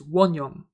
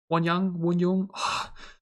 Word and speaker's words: Wonyoung: This Wonyoung looks incredible. Why do I sometimes pronounce their names so weirdly here and there? I mean, like, I've been nearly recording for 2 hours now, but it's Wonyoung. Wonyoung.